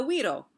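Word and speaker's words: güiro: that is popular in hispanic culture called the weirdo and it is spelled like this g-u-i-r-o and but we pronounce it the weedle okay and it was invented in puerto rico and a widow and i'll show you a picture and there's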